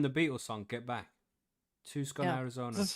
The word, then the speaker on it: Tucson: Pronounced Tucson. I stand corrected. Tucson. I know, right? Tucson. I don't know what it is either. It's Tucson. It is Tucson. Tucson. But it's Tucson. I know. It's weird.